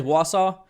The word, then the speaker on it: Wausau: wausau is that is how you say is wausau okay yeah cool yep close enough right so